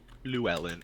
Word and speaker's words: Luellen: Luellen. Think about like Lu Ellen.